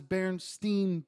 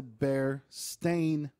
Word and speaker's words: Berenstain: thing but the end of it it was Berenstein bears Berenstein bears right yeah Stein Steve come to find out it's the bear stain Bears the Bears staying bears that's how it's